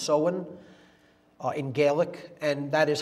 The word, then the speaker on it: Samhain: season in the mid midpoint of fall is soin pronounced so and it looks like Samhain in English but it's pronounced soin in Gaelic and that is Halloween or hollow